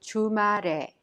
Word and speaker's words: 주말에: The final consonant 를 in 말 of 주말에 is prolonged to 에 and is pronounced 주말에.